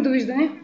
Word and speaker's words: довиждане: We say, как казваме довиждане?